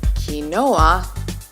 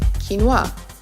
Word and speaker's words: quinoa: to pronounce its name a common mispronunciation is kanoa when the proper pronunciation would be quinoa quinoa might just be the